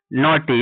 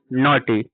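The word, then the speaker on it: naughty: जब भी किसी वर्ड्स में जी एच टी आएगा उसमें जी एच क्या होता है? साइलेंट होता है।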